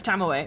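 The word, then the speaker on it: Tomoe: It's Tamoe because there's an E and that. Yeah. There's no silent vowels in Japanese, which continuously gets me.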